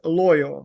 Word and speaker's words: Loio: if I may so the correct pronunciation of the company name is loyer right yes correct so people have been